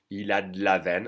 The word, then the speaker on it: il a de la veine: Pronounced faster, it would be il a de la veine. Again, I'm going to swallow that E and connect the D straight to the la.